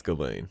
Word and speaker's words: Ghislain: of Duke Bastien de Ghislaine. Or Ghislaine. I always say Ghislaine. It's Ghislaine. The S is silent.